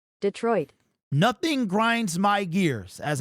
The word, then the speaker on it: Detroit: It is actually pronounced Detroit. Let's listen. Detroit. Detroit. Detroit.